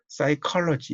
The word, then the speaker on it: psychology: 예를 들면 psychology 이러면 P가 첫 글자로 나오는데 묵음이죠.